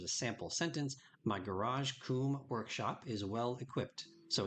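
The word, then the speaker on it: cum: not graphic or anything like that and it's pronounced Kum like k o m but it is pron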